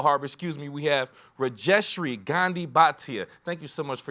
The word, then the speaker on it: Rajeshri Gandhi Bhatia: Keo haror Keo Harbor excuse me we have reestri Gandhi batia thank you so much for your time thank